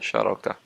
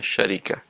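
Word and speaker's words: شركة: Mu'allafa berarti bacanya syarakah, dan namirah berarti bacanya syarikah, dan hikmah berarti cara bacanya syirkah. Berarti 3 ucapan ini boleh dan benar dalam bahasa Arab: syarakah, syarikah, syirkah.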